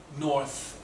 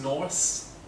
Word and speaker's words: north: Pronunciation, 北方, north, it came out as Norse. Norse? North. Norse is Vikings.